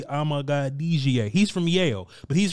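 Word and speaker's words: Amegadjie: So Kingsley Sewell-Matea, a dude from BYU, Kieran Amadilajah, that's not how to say his last name. It's really Amagadijie.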